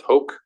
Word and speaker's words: hoc: I think HOC is pronounced hoke. Other people think it's pronounced hawk.